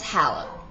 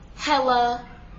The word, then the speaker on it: Halla: My name's Halla. H-A-L-L-A. Halla. Not Halla, not Hella, not Halla. It's Halla.